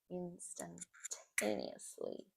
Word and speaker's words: instantaneously: If he can have any superpower, he choose to be able to teleport anywhere instantaneously. Listen to the pronunciation. It just means instant, like that. Instantaneously.